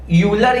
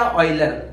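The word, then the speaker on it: Euler: Exponential form के लिए हम यूज करते हैं यूलर या ऑयलर। देखो प्रोनाउंसिएशन आपके हिसाब से, ऑयलर भी बोलते हैं, यूलर भी बोलते हैं।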